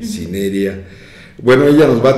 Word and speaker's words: cinerea: Cinerea, es con acento en la E, Cinerea.